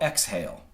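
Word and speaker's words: XHAIL: One of them in the production music world is a company called Exhale, and it's spelled X-H-A-I-L.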